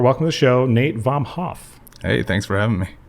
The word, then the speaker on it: Vomhof: Welcome to the show, Nate Vomhof. Hey, thanks for having me. Dude, I spelled that, or like pronounced that right? Yeah, 100%. Okay, and your Instagram is Nate Vomhof, which is Vomhof.